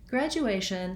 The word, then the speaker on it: graduation: with this word graduation graduation has third syllable stress so the a syllable is held longer and has a clear bowel we can see this